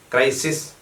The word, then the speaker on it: crisis: അപ്പോൾ ക്രൈസിസ്, CRISIS, plural ക്രൈസീസ്, CRISES, ക്രൈസീസ് ഉച്ചാരണം.